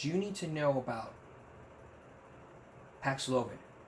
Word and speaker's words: Paxlovid: You may not have heard of it, but it's called Paxlovid. It does rhyme with COVID, yes.